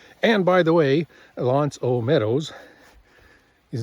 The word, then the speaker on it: L'Anse aux Meadows: I was calling it Lance Ometos before and I think I heard them pronounce it as Lance which I should have known since it's a French word. And by the way, Lance O Meadows is not only just